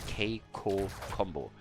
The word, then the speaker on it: KiiKoo Combo: There was actually someone on YouTube who pointed out the correct pronunciation to me, because honestly, them being French, I had no idea how they personally would pronounce that. But I'm confident that, according to recent information, it is KiiKoo Combo.